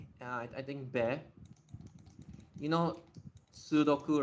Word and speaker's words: sudoku: You know sudoku, right? A lot of like people say oh sudoku but it's actually there's actually two 's. It's just one of the use it got absorbed.